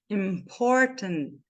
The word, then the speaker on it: important: três também três também olha a transcrição dessa palavra como é que vai ficar important important esse T aqui é mudo e esse I aqui não vai ter som de i que mais porque esse